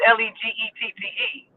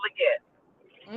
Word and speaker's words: Leggette: Mine is Leggette. It's Legette.